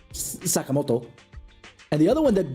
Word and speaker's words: Sakamoto: It's just that the emphasis is on the wrong thing, Sakamoto instead of Sakamoto, you know.